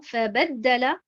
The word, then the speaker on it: فبدل: Donc nous avons cette bonne prononciation qui est de mettre l'accentuation sur harakat al-ba. Donc nous avons fabaddala.